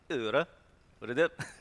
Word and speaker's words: Øredev: This is how you pronounce it. Øredev.